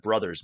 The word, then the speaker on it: Bros: they have Bros moves which I would have pronounced that Brothers moves but they pronounced it Bros moves um got to be hip for the kids right anybody say Super Mario Bros they say Super Mario Brothers right have you heard somebody